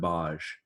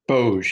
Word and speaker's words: Bozh: So, yeah, Warden Boj or Boj. Not sure if I'm pronouncing it. Bozh, yeah. Bozh. ZH. Okay, there we go.